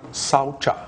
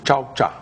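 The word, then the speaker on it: śauca: Então, o primeiro niyama é denominado saucha, ou chaucha, né? Tem algumas variações nas pronúncias, né? Mas saucha é assim que eu aprendi do sânscrito, né?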